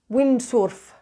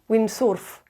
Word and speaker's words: windsurf: Spanish words either so the word windsurf would be pronounced windsworth yeah windsorff check the dictionary if